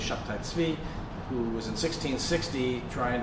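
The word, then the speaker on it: Shabbetai Tzvi: messianic figure Shabbatai Tzvi, sometimes pronounced Sabbatai Zevi, but it's really Shabbatai Tzvi, who was in 1660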